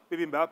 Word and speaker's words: bibimbap: think how is that how you say it bibimbap that's right and also to do a bit